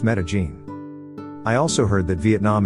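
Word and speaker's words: Medellín: place to go is made in Colombia which is pronounced Medellin I also heard that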